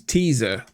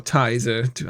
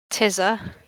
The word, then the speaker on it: Teaser: Her name is Teaser. Teaser, or Tizer, however you want to pronounce it. Oh, I thought it was going to be 2 E's. Tizzer. Just write it how I pronounce it, teaser.